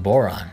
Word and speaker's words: Borana: in Ethiopia and Kenya borana is pronounced Boron with the final vow being silent and refers to the